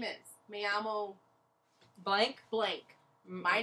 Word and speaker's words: Me llamo: Me llamo. Yeah, it's L, but L in Spanish is Y.